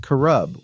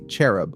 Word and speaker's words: cherub: ones or personal servants it's pronounced kurub with a Q sound still most people say cherub which is technically wrong